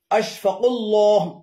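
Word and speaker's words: أشفاق الله: এগুলোর শুদ্ধ উচ্চারণ হলো আশফাকুল্লাহ, আফলাম পেশকুল, আশফাকুল্লাহ, সিদ্দিকুল্লাহ, আশরাফুল্লাহ, আহসানুল্লাহ।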